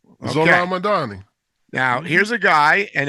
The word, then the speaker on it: Zohran Mamdani: There's this guy called I'm going to mispronounce his name, but his name is Zoran Mani. Okay, you got it right. That was perfect. Was it right? Zoran Madani.